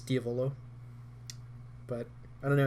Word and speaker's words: Diavolo: the Italian word for devil so technically it's Diavolo but I don't know how Flo just feels